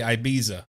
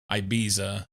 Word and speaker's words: Ibiza: song where she doesn't understand how to say Ibiza. I saw a thing about this not long ago. It's something of a basically it's an English mispronunciation, English meaning people from England, a mispronunciation of Ibiza.